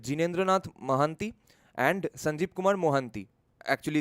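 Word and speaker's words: Mohanty: mAh and sanjip Kumar mohanti actually it's in Bengali we always pronounce these Ora surnames as mohanti only but one of their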